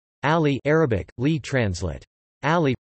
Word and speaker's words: Ali: Ali, pronounced Ali, the 15th of September 601 to the